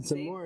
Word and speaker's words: Zamore: I think I said Zamore. Zamore? Is it Zamore is how I would pronounce it.